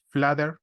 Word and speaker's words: Flutter: las generalidades teníamos que flutter o fluder como lo pronuncian en Estados Unidos en la mayoría de